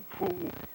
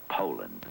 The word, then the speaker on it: Poulan: And for over 30 years, they've been mispronouncing our name. Poulan. Po. A poo. Po. Poo. So, we'd like to remind you that our name is Poulan.